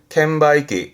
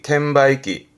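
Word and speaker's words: 券売機: 발음은 캔바이기, 캔바이기.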